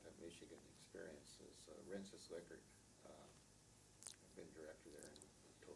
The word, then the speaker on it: Likert: out of it was knowing how Rensis Lickert pronounced his last name. And that's a way that I've been able to help the field immensely throughout my career, is correcting the people who want to say Likert.